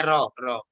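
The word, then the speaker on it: ρ: Jadi berdasarkan tabel correlation tentang pengujian hipotesis PY1 di atas menunjukkan itu bacanya bukan PO itu. Oh, P apa? PO ya? Bacanya RO.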